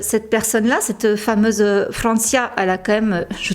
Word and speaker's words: Francia: c'est en 2013 que Francia oui je fais l'effort de le prononcer à l'espagnol parce que Francia c'est pas c'est moins beau donc Francia c'est en 2013 donc